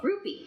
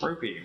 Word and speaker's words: rupee: Rupy. Rupy like the Indian currency.